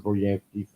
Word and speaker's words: Goryansky: Go to Boris's Facebook page, Boris Goryansky. Sound like it's spelled.